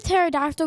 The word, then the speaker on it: pterodactyl: For my first joke, why can't you hear a pterodactyl going to the bathroom? Because the P is silent.